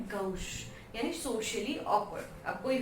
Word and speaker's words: gauche: अब जो next word है वो है गौश। इट्स नॉट गौछे, नहीं, गौश इसको प्रोनाउंस करेंगे, ये भी है फ्रेंच वर्ड।